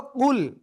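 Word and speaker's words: قُلْ: তো সঠিক উচ্চারণ হলো কুল, মোটা আওয়াজে উচ্চারণ করতে হবে।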